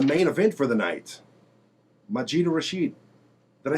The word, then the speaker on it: Majida Rashid: Majida Rashid.